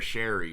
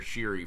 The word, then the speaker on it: Sheary: that was the connor connor sherry was conor sheary for two stanley cup